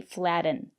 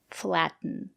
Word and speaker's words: flatten: button kitten written flatten and that's why we don't say flatten you use it to flatten your pastry we say flatten thank you for watching